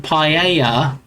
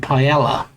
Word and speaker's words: paella: it from the store, we used to pronounce it paella. Maybe just cuz, you know, we didn't we didn't know any better. But as I got older and I heard people saying paella, I I wasn't sure.